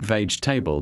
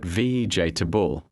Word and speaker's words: vegetable: Pronunciation mistakes are very common. For example, vegetable is not veable but vejable.